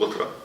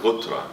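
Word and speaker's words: غترة: In wintertime we wear colored, and this is called gutra. And actually it's the gutra, yeah.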